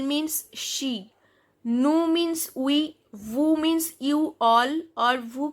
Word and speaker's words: vous: OU sound is u and s is silent.